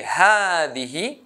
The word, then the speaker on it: هذه: Also, I say هذه, هذه, with long sound a, but I don't write it.